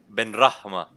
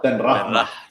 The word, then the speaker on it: Ben Rahma: Ben Rahma. See there, now we're rolling the R's the Persian style. Ben Rahma.